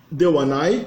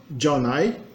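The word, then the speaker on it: ではない: A negativa, dewanai, que às vezes é pronunciada jaunai.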